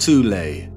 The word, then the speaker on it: Thule: society within germany called the thol society sometimes alternatively pronounced tulay that had sub-factions within